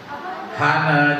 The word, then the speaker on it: honor: Hana itu tulisannya honor. Honor bacanya Han.